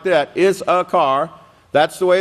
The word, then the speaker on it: Issachar: Issachar, if you could remember it like that, Issachar, that's the way it's pronounced.